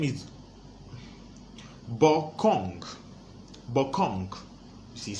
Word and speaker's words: Korwng: Korwng is Korwng. It's not Kong. It's Korwng.